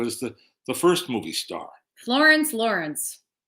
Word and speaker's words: Florence Lawrence: Florence Lawrence. It rhymes.